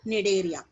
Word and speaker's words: Cnidaria: C is silent there. Cnidaria. So what you will call it as Cnidaria, right?